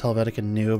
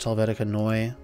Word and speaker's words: Helvetica Neue: using in my on my portfolio I'm using Helvetica Noi which some people pronounced as Helvetica new but it's actually pronounced Helvetica neue but anyways that's what I'm using for my